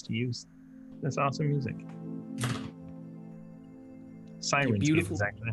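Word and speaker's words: Syrinscape: Sirenscape beautiful.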